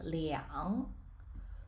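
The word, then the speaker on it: 两: or liang bai however starting from the thousands anytime you see the number two it must be pronounced as liang and there's no more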